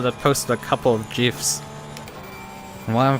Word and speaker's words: GIF: Like they handed out fucking bans and warnings and final warnings for people that posted a couple of GIFs. And why am I pronouncing it in the East as GIFs instead of GIFs?